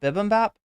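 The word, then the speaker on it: bibimbap: separate it with a dash don't they BB bibm Bap it's really called bibm Bap Bolivian Peak Macho is is a nice two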